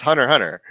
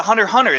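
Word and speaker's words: Hunter × Hunter: heard people yeah it's hunter hunter yeah hunter hunter so they get the x is silent it's like you're not supposed to say it yeah it's like an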